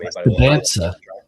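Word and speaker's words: Dybantsa: Debansa.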